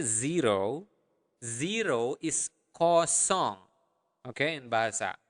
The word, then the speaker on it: kosong: it up to me ko song uh make sure that you are pronouncing the nestle sound there cause song song like a song okay so ko song